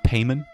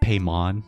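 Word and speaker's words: Paimon: pronouncing it like that they say payment not paymon like he's a freaking Pokemon or Digimon or equivalent television property from the early 2000s and 90s paymon no payment foreign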